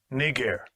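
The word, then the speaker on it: Νίγερ: But this is how you properly pronounce that word. Strong's G 3526. Niger.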